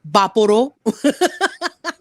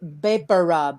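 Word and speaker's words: VapoRub: So there's a few pronunciations. I've heard Vaporo. But my mom's Filipino, and she says Beparub. It's all Beparub.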